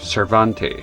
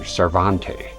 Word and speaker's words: Cervantes: that much was clear But the way the guy pronounces his last name here be as if he is speaking French. Cervante I you know that's the impression I get here.